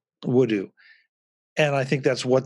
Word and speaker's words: Woodoo: name and he said it's a combination of wood and voodoo wudu and i think that's